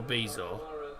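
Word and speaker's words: Bizot: Well, the French would call him Marco Bezo, because that's how it would be pronounced in France, to be fair. But he is Dutch, of Marco.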